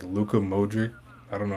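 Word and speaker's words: Modrić: I'm watching the Croatia game right now and like Luca Modric, I don't know how to pronounce his name. Is that how you pronounce it? Modric.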